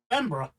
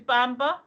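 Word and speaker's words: Bamburgh: Bamborough? Yeah, but I genuinely thought it was Bamber.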